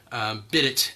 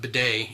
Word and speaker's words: bidet: Bid it if you're an uncultured swine, but bidet if you're if you can pronounce it right.